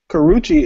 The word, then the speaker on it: Karrueche: Karuchi? Is that not her name? Is that her name, Twitter? Tell me if I'm saying that right. I don't know. I don't. You are saying it right. Karrueche is fine with me.